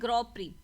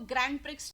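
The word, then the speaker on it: Grand Prix: Okay, tennis से आगे बढ़ के चलते हैं ग्रॉ प्री. ठीक है, इसको ग्रैंड प्रिक्स नहीं बोलते, इसे ग्रॉ प्री बोलते हैं.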